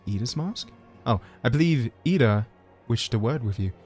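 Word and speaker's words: Yda: Oh, I believe Ida wished a word with you. See, it's pronounced Ida. I know that because the cutscenes say, "Oh, Ida, what are you doing?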